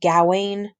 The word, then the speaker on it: Gawain: Some people pronounce it Gawain. I say Gawain.